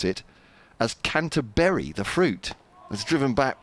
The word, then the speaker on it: Canterbury: 208 for one so James says T to pronounce it as canterberry as in fruit but now BBC commentators are pronouncing it as Canter b as in cheese I'm so upset about this